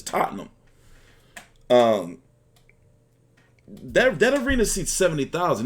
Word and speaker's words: Tottenham: stay them in Tottenham it's not Tottenham somebody reached out to me from the UK and told me it's Tottenham all right but it's spelled Tottenham but it's Tottenham they're dead arena seats